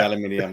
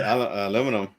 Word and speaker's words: aluminium: I'm going to say aluminum. Now, what did you say? Yes. I'm going to say aluminum too. I just love the way the Brits say aluminium. It's like, where's the extra I come from?